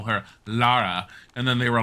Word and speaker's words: Lara: I'm sorry Laura Lara so part of the reason why they named her Lara I remember if you guys don't know is because it forced people to say her name in a British sounding way because they were gonna just call her Laura and they were all like it's not very British sounding they're all like well